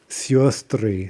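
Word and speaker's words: сёстры: Sistra becomes siostry, sisters.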